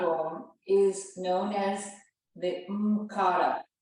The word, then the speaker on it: Om: The third sound of Om is known as the kara, or the syllable.